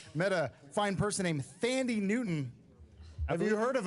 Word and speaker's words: Thandie: Well, when I was on the slopes, I met a fine person named Thandie Newton. Have you heard of him? I believe it's a woman. I believe it's pronounced Tandy.